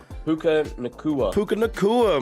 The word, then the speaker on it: Puka Nacua: Puka Nacua, man, doing his thing.